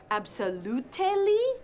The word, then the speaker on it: absolutely: Did you just say to me that the flowers are not absolutely necessary? ¿Te lo puedes creer? Me ha dicho absolutely. Absolutely se pronuncia con 4 sílabas.